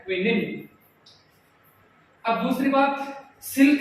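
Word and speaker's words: quinine: हिंदी में कुनेन इंग्लिश में क्विनिन।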